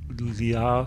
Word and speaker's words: Ljå: The publisher is Ljå Forlag. Is that Ljå? But Ljå. Apparently, when I pronounce it, it sounds French. So Ljå.